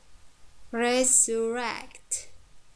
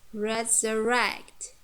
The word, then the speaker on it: resurrect: For example, entertain, resurrect, resurrect, introduce, introduce. You see, entertain, entertain. Here the second syllable is weak, and the last third syllable contains diphthong. Tain, it's strong. Or resurrect, resurrect.